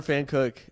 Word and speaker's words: Pfankuch: PFANKUCH. That's easy. It's pretty hard to say and pronounce. Fan Cook.